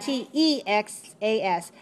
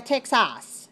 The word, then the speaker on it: Texas: The second syllable is weak, so we don't say a Texas. Not in English. We say Texas. Good. I have a good S on te, and a very weak sound.